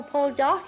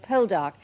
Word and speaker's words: Poldark: 20,000 Cornishmen will tune in to the BBC if you will show Paul Dark again with the lovely Cornish sea. A charming Cornish pronunciation of Poldark.